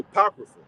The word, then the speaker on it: Apocrypha: supposed to be there right so that's that's pronounced the Apocrypha apocrypha mean to send away hidden all right